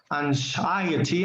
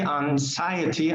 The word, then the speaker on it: anxiety: Anxiety, anxiety, anxiety, anxiety. The X is muted.